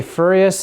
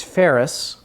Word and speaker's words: ferrous: day let's see here so the pronunciation is ferrous and non-ferrous has to do with